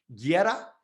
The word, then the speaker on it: Guerra: last name right it's guerra right is that right yeah in spanish yeah okay you don't pronounce the you okay yeah yeah